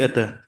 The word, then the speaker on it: Ete: We pronounce it Atta, but your lordship, most of people are finding difficulty in saying Yes, Atta. They yes. say Ete. It's Atta. Atta.